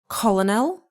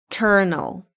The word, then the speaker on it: colonel: Is it colonal? No, it's kernel.